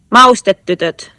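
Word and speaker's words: Maustetytöt: Can you pronounce it for us just to hear it properly? Maustetytot.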